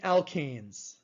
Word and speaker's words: alkane: group i will definitely say is called the alkanes the alkanes now it's very important how you pronounce this so listen to how i'm pronouncing